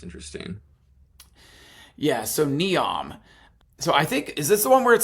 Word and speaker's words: Neom: Yeah, it looks like Neom. Like, it's like neon with an M on the end of it.